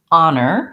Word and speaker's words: honor: going to see that even though this starts with the letter h it doesn't have the sound it doesn't have any h sound it starts with the vowel ah ah nur and it